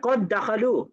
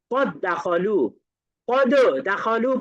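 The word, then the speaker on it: قد دخلوا: দিব তাহলে কিভাবে পড়ব কদখলুদ পড়া যাবে না পড়তে হবে কদখলু কদখলু ধরে নিতে হবে মাঝখানে দাল সাকিন বলতে কিছু ছিলই না এটা শুধুমাত্র উচ্চারণে লেখাই ঠিকই থাকবে।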